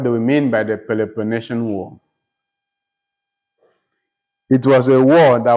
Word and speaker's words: Peloponnesian War: In the midst of the Peloponnesian War.